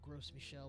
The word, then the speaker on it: Gros Michel: The Grosmorn, which looks like Gros Michel, which is also not pronounced gross, but Gros Michel is a banana.